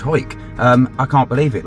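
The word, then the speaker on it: Hawick: When we said we're in Horwick, or whatever we pronounced it as, it's actually pronounced Hoik.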